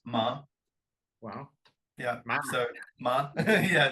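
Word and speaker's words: 麻: ma ma ma so ma is like the second intonation for for the CH for for the word basically fantastic man it's an amazing history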